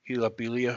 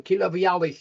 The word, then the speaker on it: Kilavialich: Okay, so Kilavialich is the pronunciation, so you're working that for the next time, so that's good.